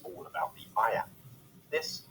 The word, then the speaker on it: iamb: The word iamb is pronounced just like the phrase I am.